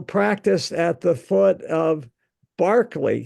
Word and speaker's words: Berkeley: at the foot of Barkley Castle not Berkeley Castle Barkley Castle uh which is spelled exactly the same way um on the near